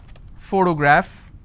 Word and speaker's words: photograph: word which is photon, now here the letter P needs to be combined with H and it becomes an F, the first sound. For example, if I have the word photograph, again I have first sound.